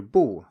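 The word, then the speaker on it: 不: next up we have the character boo that acts the same way as e does except that it is a fourth tone from the very start that means that it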